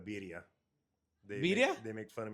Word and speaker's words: birria: fun of for saying birria. Birria? They make fun of me. Yeah, they spell it Beedia birria because I don't know how to roll my R's right or something like that.